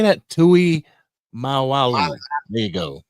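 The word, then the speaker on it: Tuimoloau: Tui Mal Malo how do you say that Tui maalu there you go maalu that's how you say it you get him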